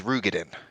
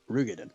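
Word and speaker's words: Roegadyn: They actually finally did pronounce that in towards the end of Endwalker, and it's Rugadin. Rugadin.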